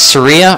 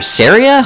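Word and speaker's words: Saria: that girl there uh her name is Seria or Seria I guess it depends on how you'd like to pronounce it um both are acceptable anyway ah I thought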